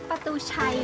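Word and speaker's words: Patuxai: How to pronounce it correctly? Pa-tu-chai or Pa-tu-xai? In Laos, we say Pa-tu-xai.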